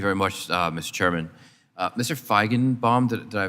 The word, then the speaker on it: Feigenbaum: Feigenbaum, did I pronounce that correctly, sir?